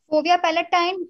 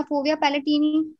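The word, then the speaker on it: fovea palatini: जी, फोविया पैलेटाइन या फोविया पैलेटिनी, दोनों इसको कहते हैं।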